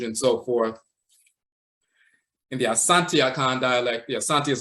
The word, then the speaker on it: Asante: Ghana and so forth specifically the Asante people sometimes mispronounced Ashanti and so forth recently